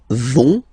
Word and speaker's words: vont: pronounce it, so ils vont, final T, not pronounced.